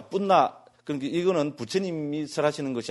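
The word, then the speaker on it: Puṇṇa: 뿌르나 산스크리트는 러 이런 발음 빨리어는 러 이런 게 없잖아요. 그죠? 예를 들어서 다르마 이런 거 안 하잖아요. 그죠? 담마 이래 뿌죠. 그죠? 그래서 뿌르나가 이 빨리어로는 뿐나 존자입니다.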